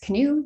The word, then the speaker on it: CANOE: canadian ocean ecosystem model nep36 canoe the canoe is just for pronunciation um this is an